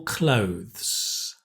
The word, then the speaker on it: clothes: Okay, very difficult word is clothes. It's the th and the s. Clothes. Right? You have to have the th because otherwise it sounds like close. Close the door, right?